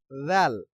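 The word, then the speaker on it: ذ: এরপরে আমরা দেখব জিম জাল জিম জাল জিম জাল জিম জাল জাল জিম র জাল জাল এই র আর জাল কিন্তু পাতলা হবে জাল র আর দা উচ্চারণ একই রকম পাতলা র জাল র জাল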